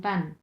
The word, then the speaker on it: 半: লিহুতিয়ান প্যান এভাবে বলে, লিহুতিয়ান প্যান। প্যানটা হচ্ছে 4 নম্বর টোন।